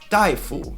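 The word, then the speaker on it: 大夫: incorrect to say instead the correct pronunciation is daifu and it's a term for doctor so truthfully how many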